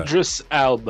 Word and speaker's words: Idris Elba: it's a film that will hopefully get us to watch, and I can never pronounce that boy's name right. Idris Gatekeeper for Elba. Thor. Idris Elba.